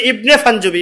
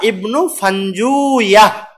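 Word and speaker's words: ابن فنجويه: কি হবে ইবনে ফাঞ্জুয়া এটার আরেকটা উচ্চারণ আছে ইবনে ফাঞ্জা দুই ভাবে উচ্চারণ করা যায় ইবনে ফাঞ্জা বা ইবনে ফানজুয়া রস অন্তস্থ আকার হবে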